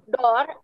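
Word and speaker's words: dört: kan, itu dibacanya tuh dot atau dot atau kayak bahasa Inggris dot gitu. Iya, kayak bahasa Inggris ya. Dot. Ya, jadi bunyi T-nya tuh dia ada bunyi anginnya.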